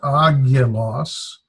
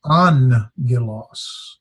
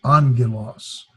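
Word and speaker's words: ἄγγελος: Remember, when 2 gammas come together, the first one is pronounced like an N. So this is not agilos, it's angilos. So this is actually pronounced like a nu. So it'd be almost pronounced like angelos. Be pronounced like angelos, but it's spelled angelos.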